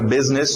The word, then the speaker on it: business: Biz, lembra business, o U som de E, então businessman, businessman, businessman.